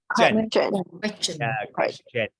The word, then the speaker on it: question: Question. Very good. Remember, if before TI we have an S, then TI is pronounced ch, like question, suggestion, congestion, etc.